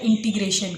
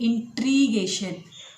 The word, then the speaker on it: integration: बार जा रहा है, हमारा प्रोनाउंसिएशन गलत होता है इंटीग्रेशन का। इट इज़ इंटीग्रेशन, लेकिन हम में से ज़्यादातर लोग इसको प्रोनाउंसिएट करते हैं इंट्रीगेशन। ग के नीचे र है, ट के नीचे नहीं, इंटीग्रेशन।